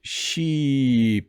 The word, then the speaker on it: sheep: Ship has a short vowel. Ship, it's a very fast word, whereas sheep has a very long vowel.